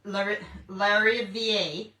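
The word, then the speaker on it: Larivière: So I'm guessing you say theres theres larier. So laier. L A r i v i e r e. But larier if you're French.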